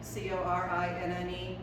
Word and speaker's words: Corinne: The name Lindy, by the way, my mom, my grandmother, and in fact her mother were all named Corinne, C-O-R-I-N-N-E, a name the Yankees pronounce Corinne.